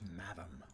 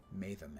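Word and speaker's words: mathom: And another gift madam. I've seen a lot of people pronounce that word matham, and I've never understood why. It's spelled like fathom.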